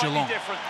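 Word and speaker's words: Jelonch: said, look, fellas, actually, it's Jalon. Don't pronounce the CH.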